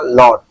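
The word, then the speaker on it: laud: লর্ড মানে লর্ড, এটা কিন্তু লাউড না, লাউড না, লর্ড।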